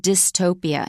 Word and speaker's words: dystopia: And I use the word dystopia, and it's spelled D-Y-S-T-O-P-I-A.